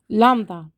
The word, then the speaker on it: lambda: to pronounce but but it's just lamb lump down the stress is here lambda and before i continue